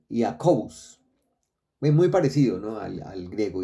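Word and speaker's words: Iacobus: que fue llamado Jacob ahora en el latín el nombre Eh se pronunciaba yacus jacobus porque Recuerden que en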